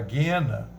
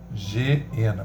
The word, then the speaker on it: Geena: Saíres para a guena, para o fogo inextinguível. Tem gente que lê Geena, porque é G com dois S. Mas me parece que a pronúncia é Guena. Vem do hebraico essa palavra.